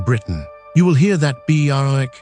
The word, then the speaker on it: Berwick: Berwick, not Berwick. The W is silent, sits on the wrong side of a river.